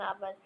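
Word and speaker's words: hour: हैं N Apple an आवर अब एच जो है वो साइलेंट है तो इस वजह से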